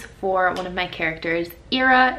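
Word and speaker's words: Eira: Ira is her name. It's spelled E-I-R-A in case you're curious.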